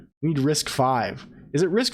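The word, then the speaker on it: RISC-V: got to clarify this risk five thank you there are armed laptops so I mean the the new Max our arm newtonium it's a risk five I thought it was risk V Hari Hara Hara was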